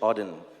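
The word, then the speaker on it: Auden: So, so it's a part of a poem from WH Odin. That's how you pronounce it.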